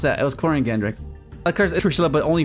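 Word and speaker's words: Quariongandrax: A lot of people couldn't pronounce that. It was Corian Gandrax.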